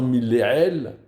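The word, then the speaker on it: מלעיל: Donc il faut faire attention à bien prononcer cette liste de mots en les lisant milléel, ça veut dire en mettant l'accent tonique en début de mot, et non pas milléra, et en faisant attention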